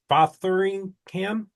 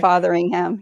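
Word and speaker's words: Fotheringham: We have Gwendel and Wines's channel and Rob Batheringham. Is that is that how you say it? Okay. Fatheringham. Yep. Fatheringham.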